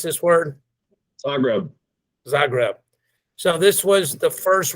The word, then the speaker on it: Zagreb: So GT, one more time, what's the right way to pronounce this word? Zagreb.